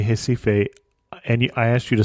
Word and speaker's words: Recife: Yeah, the R is an H at the beginning of the word in Portuguese.